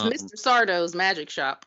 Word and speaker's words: Sardo: Sardo's magic shop, like on Are You Afraid of the Dark? Sardo! No Mr. accent on the dough.